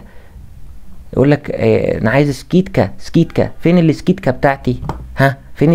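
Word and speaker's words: скидка: يقول لك انا عايز سكيت كات فين السكيتكا بتاعتي ها فين الاسكيتا سكيتكا وليس سكيدكا يبقى تنطق ايه اللي هي خصم تمام طيب دي تاني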